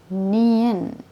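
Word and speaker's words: 니은: 1, 2, nien. Ini kita bacanya N, ya mereka bilangnya nien. Contoh suara nona, nasi ya, N gitu ya.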